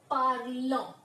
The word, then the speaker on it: parlons: It will become, and the pronunciation will be parlons.